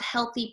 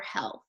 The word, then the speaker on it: health: to be doing some reading and writing about healthy practices and things to know about your health so let's take a look at this word